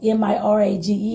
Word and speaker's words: mirage: Mirage, M-I-R-A-G-E, is pronounced mirage, said Valancy shortly, picking up her tea and her beans.